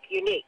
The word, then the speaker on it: unique: unique radio station unique it's not unique it's unique unique the stress is on the second syllable so the stress is